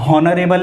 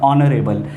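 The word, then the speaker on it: honourable: ठीक है, इसमें H साइलेंट होता है, हॉनरेबल नहीं होता, ऑनरेबल।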